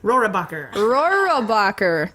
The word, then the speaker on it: Rohrabacher: Rohrabacher.